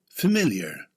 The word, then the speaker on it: familiar: Familiar. It's an adjective with the stress on the second syllable.